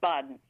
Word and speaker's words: Bawden: now uh this is Borden or Bowen uh forgive my ambiguity about pronouncing your name is it bden yeah it's Boden yeah uh thank you and